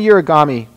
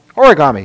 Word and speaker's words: origami: do all this and it was kind of urami did I say it right origami origami sorry origami well that's the European version